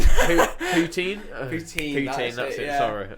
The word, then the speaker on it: poutine: Is it poutin? Poutine. Poutine. Poutine. That's it. Sorry, mispronounced.